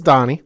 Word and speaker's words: Donnie: Not a mispronunciation. It is Donnie.